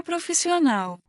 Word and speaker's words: profissional: The only difference is that the stress is on the al in Portuguese. So referring to a male, let's try to say, the architect is professional. O arquiteto é profissional.